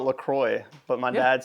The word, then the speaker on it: LaCroix: I've always called it LaCroix, but my dad says LaCroix. I think about like St. Croix, the island in Virgin Islands.